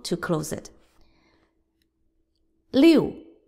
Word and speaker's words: 六: 六 Fourth tone.